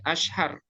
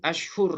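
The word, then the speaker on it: أشهر: Nah, ini hati-hati bacanya, ini ashhar bukan ashhur ya.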